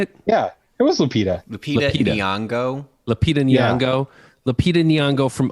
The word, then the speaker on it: Lupita Nyong'o: Lupita Nyong'o.